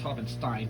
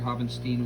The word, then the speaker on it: Poppenstein: a pretty big poppenstein it's pronounced poppenstein but you know if you want to pronounce it hovenstein when i write it